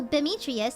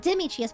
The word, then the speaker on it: Demetrius: grass disease exactly so Demetrius not Dimitrius by the way it's